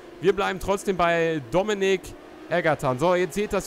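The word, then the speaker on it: Dominique: Dominik er wieder vorbei dominiik wird das dann glaube ich ausgesprochen weil er mit der wird ja französische Schreibweise dominiik heißt das ja dann eigentlich wir bleiben trotzdem bei Dominik ergeran so jetzt seht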